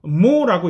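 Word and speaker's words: mho: 개념적으로 대칭적이고 거꾸로니까 이 기호를 뒤집어서 이렇게 표현하고 이에 대한 발음도 ohm이니까 스펠링을 거꾸로 해서 mo라고 읽습니다.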